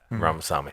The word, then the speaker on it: Ramaswamy: Yeah, Ramaswamy. There we go. That's way better. I've been trying to pronounce his fucking Vivek first.